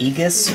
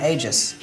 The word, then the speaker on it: Aegis: whatever to help so for the longest time on the channel I pronounced aegis of the gods as I think Aegis or something I don't know how it girls it is very just age though that's how I said hey jizz yeah because it looks